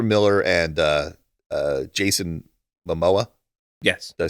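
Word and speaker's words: Momoa: cameo where Ezra Miller and uh uh Jason Mamoa yes do I say his name right uh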